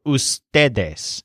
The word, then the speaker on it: ustedes: them by a word whose stress syllable is stay so ustedes is the word this